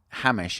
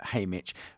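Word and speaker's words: Haymitch: Um this is the story about Hamish and how uh Hayitch rather I never pronounce his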